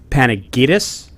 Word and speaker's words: Panagidis: Is it Panagidis? Very good. Bingo. That's Fill in the blank. we all say it the American way. It's obviously a Greek last name, but that is the American pronunciation.